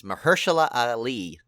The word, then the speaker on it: Mahershala Ali: It's Mahershala Ali.